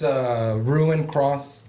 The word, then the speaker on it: Ruinkrôs: It sounds like a German name. Ruinkrôs. No, Ruinkrôs. it's Ruinkrôs, but two different words but put together.